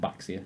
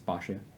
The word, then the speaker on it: Baxia: People think it's called Baxia. It's not Baxia, it's Bashia. Basha.